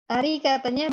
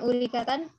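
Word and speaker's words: أريكةً: Uridu arikatanya bukan urikatan, arikatan.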